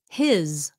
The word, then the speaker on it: his: words that there are common function words that are spelled with an s but pronounced as a z like the word was was he was okay he was okay his his his car is